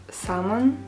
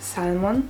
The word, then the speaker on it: salmon: the fish, is pronounced salmon and not salmon with an L. Why would you put an L if you don't pronounce it?